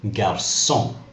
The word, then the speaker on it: garçon: For example, garçon, we pronounce it with an S sound.